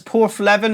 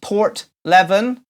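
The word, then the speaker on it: Porthleven: melhoff chloe jones says poor leaven is often pronounced port leaven Barbara Hicks said she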